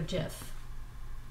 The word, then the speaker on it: GIF: or jpeg png or jiff gif is pronounced jif so i'm looking here